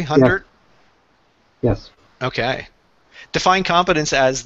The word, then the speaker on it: Hundert: Now, Epstein and Hundert, and Sam, am I pronouncing that correctly? Hundert?